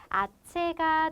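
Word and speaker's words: hache: 그런데 H는 스페인어에서 알파벳 자체가 묵음입니다. 그래서 없다고 생각하고 여기만 아체라고 발음을 해주시면 되는데요.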